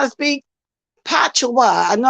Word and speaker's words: patois: Because she be teaching us how to speak Patois. I know how to pronounce it now. I was calling it patio to look like that's the way it's spelled patio, but it's patois.